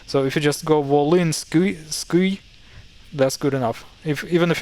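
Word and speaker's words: Volynskyi: So Volinsky would sound good enough, but absolutely proper correct pronunciation is Volinsky. Volinsky. So vol I, this is the I sound. When you S, it's S with a softening. Like instead of saying Volinsky, you say Volinsky. A little bit more correct.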